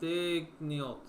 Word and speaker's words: Daigneault: Mark Daigneault.